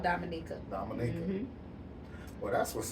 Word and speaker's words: Dominica: Dominica? It's called Dominica.